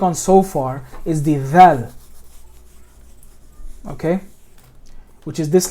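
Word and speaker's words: ذ: This is dal, this is dhal. Where they come out in the tongue is two different regions. They come from different areas.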